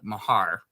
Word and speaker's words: Meagher: I don't care because everyone pronounces it wrong but my name is actually uh Mahar Mahar okay God yeah